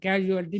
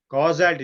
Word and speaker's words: causality: Vedanta is concerned about casualty. No, keep aside Vedanta. Talk only Vaiseshika. Causality is not casualty. Casualty means a death section in hospital. It is causality. Causality. Pronunciation different. Causality.